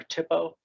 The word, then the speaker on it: THPO: The next one is the Tribal Historic Preservation Office or THPO .